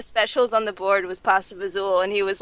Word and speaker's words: pasta fagioli: One of the specials on the board was pasta fazool, and he was like, how do you pronounce that word? And I was like, what pasta fazool? Because it looks like pasta fagioli. Wait, that's fazool?